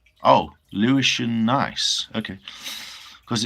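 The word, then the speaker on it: gneiss: Lewishian genus pronounced nice. Oh, Lewishian nice.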